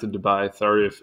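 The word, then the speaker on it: Debye: really quick and easy I feel like it's Dubai not Debbie okay so the spatial scale I'm just going to pronounce it Dubai sorry if it's wrong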